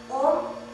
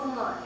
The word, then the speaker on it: Om: Om consists of 3.5 syllables. A as in moral, U as in true, Ma as in hum. The last half syllable is an extension of the vowel sound of the Ma. It is sounded by raising the focus of the breath pressure of Ma from the hard palate to the head region.